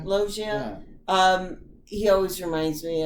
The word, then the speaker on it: Loggia: Loggia? Loggia.